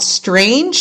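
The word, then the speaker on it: Straenge: This is a death death rash metal band and they're called Strange and it's spelled S T R A E N G E.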